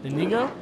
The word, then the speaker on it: Inigo: Inigo? Inigo Montoya? Yeah. Inigo? Not you said Indigo.